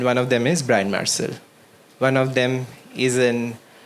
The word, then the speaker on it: Marsal: It's not Marshall, it's Marcel, right?